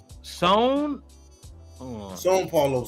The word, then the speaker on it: São Paulo: Also, it's pronounced São Paulo.